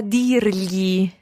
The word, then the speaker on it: dirgli: Dirgli. So we can either say gli può dire or può dirgli.